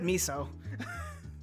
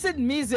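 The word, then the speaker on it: 水: Oh, you said miso. No, I said Mizu.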